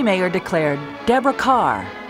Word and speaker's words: Kerr: Mayer declared, "Deborah Kerr. It rhymes with star."